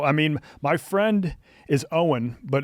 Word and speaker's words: Eoin: So, I mean, my friend is Owen, but it's spelled the Gaelic way, Eoin.